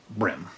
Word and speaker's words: bream: Yeah, golden threadfin brim. Is that Brim or Brom? So it's spelled Bream, but it's pronounced Brim.